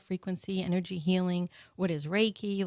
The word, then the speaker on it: Reiki: Well, what is Reiki or did I say it right? Yes, you did. Yes. So Reiki, okay, it started years and years ago was